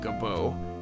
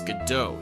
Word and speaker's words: Godot: Gobo is spelled with two B's though. It's not Gobo, it's Godot, Your Honor.